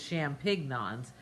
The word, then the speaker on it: champignons: With no G's, no G. No G. I don't say the G. No. It's spelled like this: CHAMPIGNONS. But I didn't think it was champignons. That just didn't sound but right. It sounded really kind No, of it doesn't. It's quiche à champignons, quiche with mushrooms.